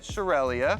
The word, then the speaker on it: Shurelya: slide how do you pronounce shurelya well I pronounce it shurelya shurelya you guys shurelya was also a person